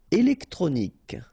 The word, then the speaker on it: électronique: Électronique, okay, so k at the end, remember, Q-U-E at the end, k.